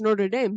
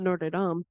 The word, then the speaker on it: Notre Dame: scored from Notre Dame it's Nord Dame not norded can pronounce things specimen